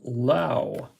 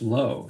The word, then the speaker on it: Lowe: And Brandon Lau. Not to be confused with Lowe, Josh Lowe. So they have the same spelling of their last names, but they are pronounced different. Lowe and Lau.